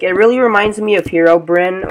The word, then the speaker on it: Herobrine: really reminds me of hero Brynn or herobrine or however you want to call it or say it I say hero brinks it's the proper way to say it um so yeah yeah